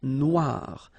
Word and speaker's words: noir: Then here, la mer Noire. Same thing here that we had previously. Final not pronounced, okay? And then OI, remember, wa, noir, noir.